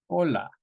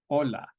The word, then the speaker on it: hola: going repeat that achie hola so H's are always silent in Spanish hola hombre e igualmente Pota